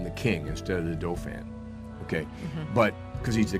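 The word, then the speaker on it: Dauphin: Doofan is pronounced.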